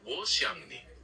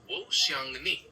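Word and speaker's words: 我想你: To say I miss you in Mandarin, you would say Wo xiang ni. It's pronounced Wo xiang ni with the xiang sounding a bit like xiang with a rising tone.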